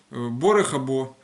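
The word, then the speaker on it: ברוך הבא: Борехабо. Борехабо это вы знаете, я говорил на этих уроках. Борехабо это добро пожаловать, типа welcome. Вот. Но вообще оно в идиш переводится и произносится как борехабо, это добро.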